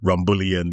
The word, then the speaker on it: rumbullion: But if you know Caribbeans, we're very laid-back, and a four-syllable word, rumbullion, is too long a long a word to describe our favorite tipple.